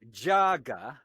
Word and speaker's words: JAGA: I came up with this four-letter word, JAGA, to rhyme with MAGA.